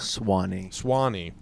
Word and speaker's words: Suwannee: Spirit of the Suwannee Music Park. Swanee. Sorry. Thank you, Alex. And There's a U in there.